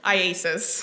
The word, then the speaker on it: IACIS: IASIS. IASIS. All right. I just want to shorten it for today. Yes. All right, so IASIS. Tell us about that program that you went through with IASIS to become a digital forensics examiner.